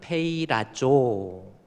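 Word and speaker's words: πειράζω: 다음에 오장음 5 발음입니다 그래서 이것을 읽으려면 페이 라조 영어로 이렇게 보면은이 페이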